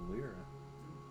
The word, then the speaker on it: Leira: So, but you pronounced it Lyra. I mean, that's exactly how it's said. I figured it'd be Lyra.